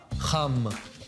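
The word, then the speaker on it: חם: Hot is, now you're trying with your ha, cham.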